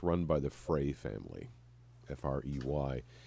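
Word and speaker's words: Frey: you'd also know that it's run by the fray family f-r-e-y it's been in the family for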